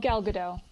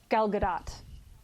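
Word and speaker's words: Gal Gadot: I love I love galado gal Gat I think is actually how you say it I heard somebody say it the other day when she was doing an interview and she didn't correct them so I'm assuming that's accurate which means I've been saying it wrong the whole time um but I love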